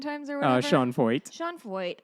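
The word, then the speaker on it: Sean Feucht: Sean Foyt. Okay. Rhymes with exploit.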